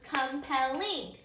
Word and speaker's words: compelling: stay with me compel you can see that the accented or the strongest syllable is our final syllable it's so in at the end it's our last syllable so right now before we add our suffix our accented syllable on compel is the last syllable about word and when we add our suffix ing the word becomes compelling so let's say that words together come paddling so do you hear that whenever you combine my suffix the accented